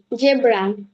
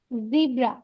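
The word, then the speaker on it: zebra: জেড ফর জেড জেড ফর জেব্রা। জিব্রা। জিব্রা। জিব্রা। জিব্রা। জিব্রা। জিব্রা। জিব্রা। জিব্রা। জেব্রা না, বলো। জেব্রাটা আমরা বাংলায় উচ্চারণ করব, ইংরেজিতে জিব্রা।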